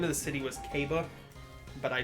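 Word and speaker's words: Q'be: Because it was pronounced Q apostrophe, or it was written Q apostrophe BE. And it's supposed to be Kaba. But I said QB. I did it phonetically instead of like how I actually wanted it to be said.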